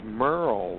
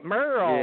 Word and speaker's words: Merrell: TJ, actually, my parents spelled my name like it should be pronounced Merrell, but it's Merle, like Merle Haggard. All right, Merrell.